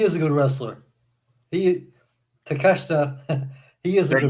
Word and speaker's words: Takeshita: Take a shitter."